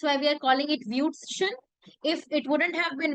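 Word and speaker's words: Würstchen: Yeah, it's Wutschen.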